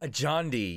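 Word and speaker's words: Adjani: Ajandi, yeah.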